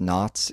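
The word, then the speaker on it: Knautz: happen John I think his last name is pronounced knots it's uh k n autz sounds about right he did second unit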